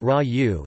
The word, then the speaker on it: ragù: In Italian cuisine, ragù, pronounced ra-u, is a meat-based sauce that is commonly served with pasta.